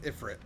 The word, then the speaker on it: Ifrit: It's Ifrit.